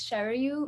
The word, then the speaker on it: Sharayu: i just wanted to clarify the pronunciation for my name is shower you okay sorry that's